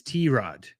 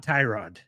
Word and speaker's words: Tyrod: He never corrects anyone because he's too nice of a guy, but you actually pronounce his name as T- Rod. It's not Tyrod.